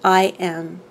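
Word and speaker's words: AIM: It is the mantra I'm, spelled A-I-M, pronounced I am.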